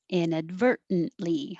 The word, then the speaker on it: inadvertently: Inadvertently. Inadvertently. I don't say that second T.